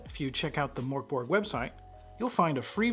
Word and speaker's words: Mörk Borg: But before we get started, if you really want to impress everyone at the table and pronounce the game correctly, you'll say Mörk Borg. Mörk Borg. Not Mörk Borg, but I digress.